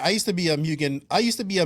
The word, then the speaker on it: Mugen: say it right actually it's mugen like we all say mugen but it's mugen that's all i think i call it german so it's moon so yeah don't worry